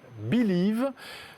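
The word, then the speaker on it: Bi2Liv: tickets papier grâce à une application qui s'appelle Believe. Ça s'écrit B-I-2-L-I-V et je suis ravi de recevoir son cofondateur Ruben Kaloun. Bonjour. Bonjour. Merci d'être là sur le plateau de 01 Hebdo. Alors, Believe, ça fait penser évidemment à Bill, Oui.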